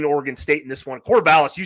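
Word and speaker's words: Corvallis: got a lean orgon state in this one cor valis you said it right away true freshman on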